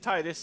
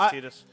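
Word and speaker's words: Tidus: she's not inheriting anything I called Titus T tetus Titus in all those years I was wrong yeah yeah I always called him uh Titus yeah I thought it was Titus it's tetus I called them Titus until I play Kingdom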